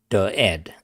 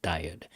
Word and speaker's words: Dired: So, but in Emacs, it's called Dired or Dired. That's how I like to call it, Dired.